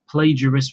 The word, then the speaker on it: plagiarist: That's plagiarist with a, you know, with a soft G, not a hard G.